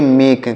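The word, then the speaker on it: make: गया है लास्ट में अगर यह इ नहीं होता तो इस ए का उच्चारण ऐ हो जाता ऐ की मात्रा हो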